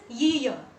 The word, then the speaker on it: year: But listen carefully, it is not ear, it is year, year.